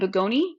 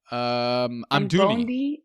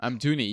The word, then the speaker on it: Amdouni: And Bugoni, did I say his name right or wrong? Who's that? The forward of Burnley, this guy? Amdouni. Yeah, okay. Amdouni.